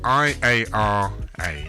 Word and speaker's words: Iara: So here we are back live in the studio with my guest, Iara Lee. Hello. Iara. Iara. Iara. So it's spelled I-A-R-A. But it's as if it was with a Y.